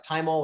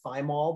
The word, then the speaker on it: thymol: very permissive about temperature tymol or thymol both pronunciations are appropriate but it's derived from the herb time and so i say time all um it is not